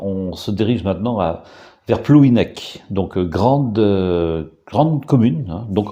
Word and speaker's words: Plouhinec: Plouhinec, hein, c'est la forme administrative, donc prononciation en français, et Pléinec, hein, en breton.